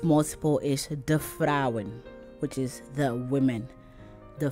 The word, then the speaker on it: vrouwen: So vrouw, vrouwen. Vriend, vrienden. Maand, maanden. Fiets, fietsen. Trein, treinen. So once it's more than one, they add en to the word and pronounce it that way.